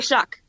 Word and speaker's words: Shuck: It's called a shock. A shock. No, it's called a shock. Shock. Spell that.